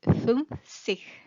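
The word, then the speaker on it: fünfzig: alemán se llama umlaut, tienen que hacer poner la boca como una E y pronunciar la U, sería U. Entonces es 50.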